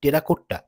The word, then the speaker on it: টেরাকোটা: আগে আসে টেরাকোটার কথা যদিও এর প্রপার উচ্চারণ টেরাকোটা নয় টেরাকোটটা কিন্তু আমরা স্থানীয়ভাবে টেরাকোটা বলেই পরিচিত শুধু টেরাকোটার কাজ নয়